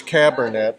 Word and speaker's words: Cabernet: You know, it's like internet, it's Cabernet.